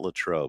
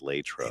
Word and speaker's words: Latrobe: class together, Latrobe, or because it's not Latrobe, it's Latrobe. It is. I've been mispronouncing it for 63 years.